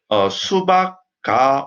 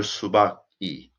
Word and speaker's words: 수박이: So correct, proper pronunciation is 수박이, right? 수박이, 수박가. Which one is more smooth? Which one? 수박이 or 수박가? 수박이, 수박가. How does it sound? 수박이, 수박가. Of course, 수박이 sounds natural, right?